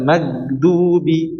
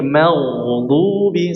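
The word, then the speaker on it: المغضوب: Jangan sampai diucapkan mag tapi diangkat ke atas. Mag jangan magdubi tapi magdubi.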